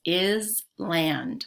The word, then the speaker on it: island: into eyes sine island notice island looks like it says is land but it's pronounced island and this sentence can